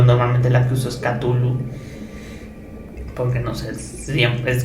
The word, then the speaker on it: Cthulhu: del Kraken proviene de la idea del mismo Cthulhu o Tulu, Zulu. Nunca hay una pronunciación exacta, simplemente hay variaciones, pero yo normalmente la que uso es Cthulhu, porque no sé, siempre es como yo lo